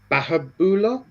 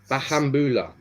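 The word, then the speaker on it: Bahamboula: Obviously, Dylan Bahabula. Is that how you say it? Bahambula.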